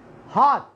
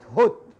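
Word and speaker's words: hot: الأو في الغالب يكون مفتوح فيصبح هات وليست هوت، هات وليست هوت.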